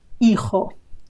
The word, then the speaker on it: hijo: Hijo with a silent H. Remember that the H in Spanish words is totally silent, as if it wasn't there. If it wasn't there, it would be the same sound.